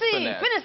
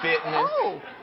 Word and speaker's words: Finesse: like you know cuz nobody even thinks it's finesse it's spelled finesse it is finesse I get fasy I get finess I get Fitness well you know when